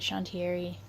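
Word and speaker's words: chantrieri: chante re or Agra pronounce it shun Thierry it's like bat flower so he'll get like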